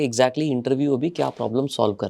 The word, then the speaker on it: Intervue: आपकी जो कंपनी है इंटरव्यू इंटरव्यू ऐसे ही प्रोनाउंस करते हैं आईटी आर वई परफेक्ट